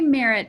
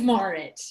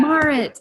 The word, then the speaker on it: Marit: I want to say Marit, but I think I'm saying it wrong. It's Marit. Yeah. Marit.